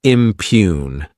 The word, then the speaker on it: impugn: Next is the verb impugn. To impugn this word has two syllables and the stress is on that second syllable.